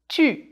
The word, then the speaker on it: tu: This is the U sound we worked on before. Tu.